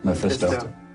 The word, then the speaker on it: Mephisto: Mephisto.